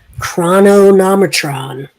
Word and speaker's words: Chronomotron: So I've decided that the proper pronunciation is the Chronomotron.